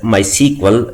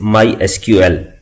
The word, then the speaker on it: MySQL: supported by Oracle Corporation we can call this product as my sequel but the official way to pronounce it is my SQL with the help of